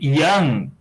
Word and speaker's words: young: Esse O é meio que pronunciado como A, né? Da gente.